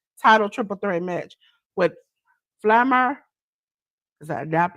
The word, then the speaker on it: Flammer: We had the AAA World AAA Rena's title triple threat match with Flammer. Is that pronounce her name right, James? Flammer?